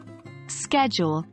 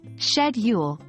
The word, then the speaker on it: schedule: Schedule, pronounced schedule, much like British English, rather than the American schedule.